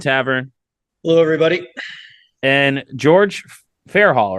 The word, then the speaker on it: Fairhall: And George Fairhall, right? I should ask for pronunciation first.